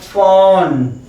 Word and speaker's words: phone: फिर आपका होता है फोन, फ का एफ होता है फोन, फोन।